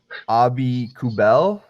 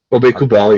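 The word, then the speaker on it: Aubé-Kubel: Abi Kubel. Obi Kubel, yeah, you've got it.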